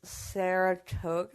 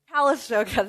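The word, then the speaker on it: Calistoga: Saratoga, I believe that's how you pronounce it. What is it? Kalisoga.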